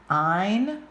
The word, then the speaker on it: ein: Ein rhymes with mine.